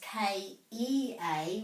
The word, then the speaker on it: kea: macrons on the penguin so it's is the pronunciation for the ca kia but this one is k e a which is the bird kia kea so this